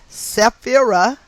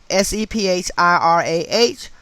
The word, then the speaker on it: Sephirah: These circles are known collectively as Sephirot, Sephirot, or, Sephirot, Sefirot, and individually as Sephirah, Sephirah, or Sephirah, Sephirah.